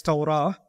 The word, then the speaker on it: Torah: The word Torah comes from the Hebrew language and it is pronounced as Torah.